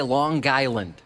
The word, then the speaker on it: Long Island: You get aggravated by people who throw the hard G in there for no reason? I've noticed it from people who say Long Island. When people have the hard G at the end of that, that's what I always think of. It's East Coast people.